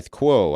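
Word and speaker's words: Kuo: to really reliable analyst ming chi ko i kwo i think is how you say his name correctly uh everybody's moving to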